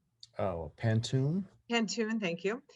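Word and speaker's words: pantoum: She says, I had never heard of I'm going to say it wrong, Pantuan? Oh, Pantoon? Pantoon, thank you.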